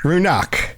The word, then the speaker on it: Ruinach: Ox ox with like a with a hard k even though it's c h. Yeah, hard k Ruinark. No, there's no r. No, Ruinark. Ruinark. Ruinak.